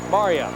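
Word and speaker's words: Marja: Spells it M-A-R-J-A, pronounced Maria.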